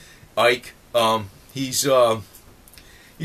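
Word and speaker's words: Icke: with David Ike uh I don't call him ick anymore because I I was always mispronouncing that not on purpose but Ike um he's um he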